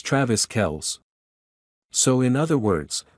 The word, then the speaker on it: Kelce: In the clip, Jones says, "So y'all know it's not even Travis Kelce? It's Travis Kels." So in other words, the E at the end of Kelce is silent.